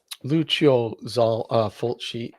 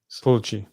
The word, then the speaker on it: Lucio Fulci: By the way, it's pronounced Lucio Fulci. Fulci. Fulci.